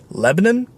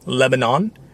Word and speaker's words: Lebanon: my comments saying that i pronounced it wrong and to them i will say you're right i give people flack all the time for saying lancaster instead of lancaster and already i have completely mispronounced the city just to the north of us it is apparently lebanon not lebanon anyways i'm riding this